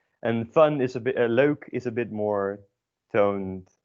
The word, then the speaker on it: leuk: Note the pronunciation. So it's o. We covered it in the first lesson, but it's worth repeating, literally, and also how to do it. So it's pronounced as o. You can kind of mimic this sound if you don't know how to do it, as starting at with an and then going to an u. Leuk.